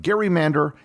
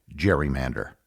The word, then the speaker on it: gerrymander: to say over time the pronunciation of Gary Mander evolved into the word we know today Jerry Mander the Massachusetts redistricting of